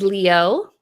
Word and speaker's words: Liu: Okay, like the proper way to pronounce it is Leo, right? But I've always pronounced it as Lou.